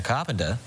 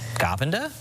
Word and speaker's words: Carpenter: Oh, so if you're a fan of Sabrina Carpa, why why are we saying it like that? Carpenter. How do you say it? Carpenter. Just said that.